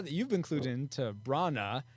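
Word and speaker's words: Branagh: B-R-A is pronounced bra, and nah, N-A-H is pronounced nah, so it's Brana.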